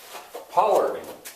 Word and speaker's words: pollarding: When I talked about in Copenhagen, Frederiksberg Palace and Park, pollarding. Why I was unsure about that was because I didn't know where the accent lay, but it lies on the first syllable.